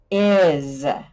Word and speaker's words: is: to spell the word is so uh e is what there's no z's up there what could make the z sound the s can make a z sound at the end of a word yay we spot the